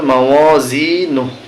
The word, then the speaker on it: موازينه: فأما من ثقلت موازينه এখানে যখন আমরা থেমে যাব তখন উচ্চারণ হবে মাওয়াজিনু সূরাতুল কারিআতি মাক্কিয়াহ বিসমিল্লাহির